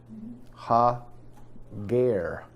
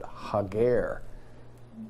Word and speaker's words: Hagar: actually a Hebrew word it's a contraction ha Gare ha guerre not Hagar but hug err that's exactly how it's spelled in Hebrew what is a guerre